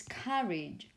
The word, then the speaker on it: carriage: Or if you use the word this carriage, the stress is on this syllable here, not on the first one, not on the last one, and also the vowel sound, okay, be careful with it as well.